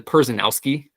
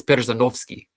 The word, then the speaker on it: Panowski: your last name it's panovski and uh I realized I'd never actually heard my last name pronounced correctly like in the native tongue you know uh so